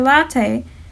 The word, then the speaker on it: latae: of the tensor fasciae latae latte sounds like a latte drink you can think when